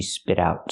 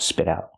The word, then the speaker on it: spit out: The T changes to a fast D because it's between vowels. She spit out, spit out.